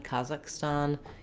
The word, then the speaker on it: Kazakhstan: I would say, if you're using the English pronunciation, Kazakhstan, just note that we stress it on the first syllable, and I can't really